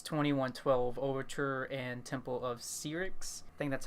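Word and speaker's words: Syrinx: playlists and that's 2112 overture and temple of sea ryx thing that's how you pronounce it probably one of the best openings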